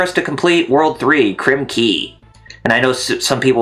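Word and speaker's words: Krem Quay: to complete world three crim key and i know some people would say crim quay even though it's that's how it spelled but well i heard that it's actually pronounced as key like k-e-y yeah it is i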